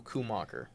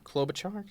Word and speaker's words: Klobuchar: Sanders, a lot of Biden, and a couple Kumacher. I don't know. Nope. Couple who? Kolbach. Klobuchar. Klobuchar?